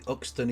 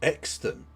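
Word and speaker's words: Euxton: Apparently Uxton is near Buckshaw.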